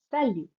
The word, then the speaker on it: salut: The next greeting is salut. Sa lut. Salut. Salut is informal.